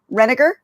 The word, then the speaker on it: Renegar: I don't want to say your name wrong. Renegar? Nailed it.